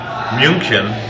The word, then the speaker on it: München: So a word like München, which is Munich in German, is actually M-U with an umlaut, N-C-H-E-N. But you pronounce it as if it's M-U-E-N-C-H-E-N.